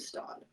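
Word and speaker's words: Staud: on your screen um I think it's called the stock that's how I've been hearing people say it it's a Tommy bag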